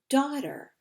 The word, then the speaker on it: daughter: G H who remembers the gh is silent we don't do anything with it so we have da